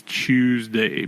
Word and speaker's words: CHWSDY: that asks on YouTube how to pronounce the podcast it is Tuesday because I don't know